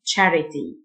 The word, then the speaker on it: charity: around around جمعية خيرية charity C H تنطق تش charity يقود دراجة cycle cycle